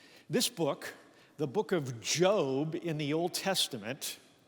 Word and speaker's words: Job: fact Scholars think this book The Book of Job in the Old Testament pronounced job not job as in the founder of Apple